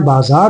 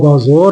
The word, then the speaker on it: بازار: وہ اختیار بولتے ہیں۔ اسی طرح سے ہم بازار بولتے ہیں، وہ بازور بولتے ہیں، اور اسی طرح سے